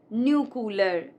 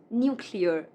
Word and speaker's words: nuclear: It is not nuclear, it's nuclear.